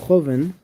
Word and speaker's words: joven: Okay, well here, joven, yes, the second to last.